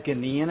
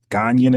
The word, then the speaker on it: Ghanaian: So you identify as, do you identify as Ghanaian American ever?